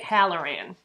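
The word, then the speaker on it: Hallorann: is now dick hollerin hollerin dick H dick hallerin that's how you say it and I really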